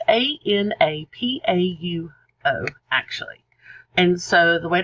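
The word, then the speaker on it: ἀναπαύω: It's Anapauo, actually. And so the way to pronounce that is unapauo.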